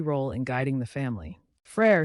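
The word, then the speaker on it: frère: in guiding the family Fray stands for brother say it as far a rhyming with Fair Brothers can be great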